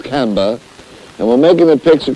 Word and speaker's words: Camber: here in canberra making i don't know that's the correct pronunciation you british people do have some weird names i think it's camber and we're making a